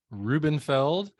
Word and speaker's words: Rubenfeld: so much minor correction my last name is pronounced reubenfeld I don't want to get rubbed out hope you don't mind